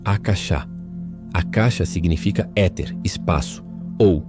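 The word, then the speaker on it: आकाश: Ele tem suas raízes na antiga e sagrada língua sânscrita, derivando da palavra axa, que se pronuncia algo como achá.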